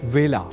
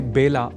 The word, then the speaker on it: वेला: अर्थात इसे बेला नहीं बोला जाना चाहिए।